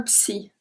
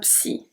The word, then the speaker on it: psy: Numéro 26, un psy. Un psy. It's for un psychologue. Un psychologue. And we pronounce the P at the beginning.